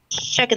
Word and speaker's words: shocked: Shocked. Este sonido, exacto, el primer sonido es muy fuerte. Shocked. No tengan miedo de usar la sh.